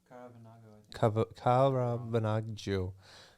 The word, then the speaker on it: Caravaggio: Caravaggio.